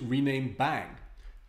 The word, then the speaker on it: rename!: Instead of using this rename function, we can use rename bang. This exclamation mark is often pronounced bang in the context of computer programming.